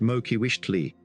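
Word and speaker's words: Moquihuixtli: Their Tlatoani, Mokihuixtli, pronounced Mokiwishtli, made a statement regarding the succession by rearranging their marital relations, a practice known to Nahua kings in similar circumstances.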